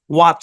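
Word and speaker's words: watch: তারপরে ঘড়ির ইংরেজি কি ডব্লিউ এ টি সি এইচ এই শব্দের উচ্চারণ কি ওয়াচ এখানে টি টা সাইলেন্ট আচ্ছা স্পেলিং এর একটা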